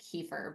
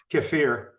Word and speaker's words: kefir: of treatment and um I always call it kefir but you said it way better it sounded so good when you said it but um how how do you say that again cfir cir cir it sounds so appropriate right cir I'm so glad you had him say that again because I was like wait I need to hear this again because I've been saying it wrong too cir so as far as